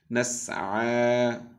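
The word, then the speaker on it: نَسْعَى: নাসআ পড়ুন। এই ইয়াটা এখানে ইয়ার মতো যেটা দেখছি এটা কিন্তু ইয়া না, এটা দেখতে এরকম লেখার জন্য এসেছে। মূলত আমরা আইনের উপর খাড়া জবর দিয়ে উচ্চারণ করবো। নাসআ পড়ুন।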